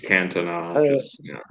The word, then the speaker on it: Cantona: It's Cantona. It's Cantona. My job is to read the questions, not pronounce the names correctly.